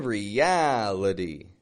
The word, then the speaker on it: reality: And then in reality, notice the ah. That's the strong part in that word, right? Ria. And then itty. Has a flap T. Itty.